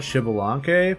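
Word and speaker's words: Xbalanque: Um, so the only coral area I could draw was uh the Mayan god Shibilank because like the X is pronounced like sh I said Shaadoo.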